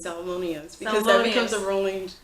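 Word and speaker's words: Salmoneus: Oh yes, I made myself learn to pronounce it Salmonius because that becomes a rolling joke.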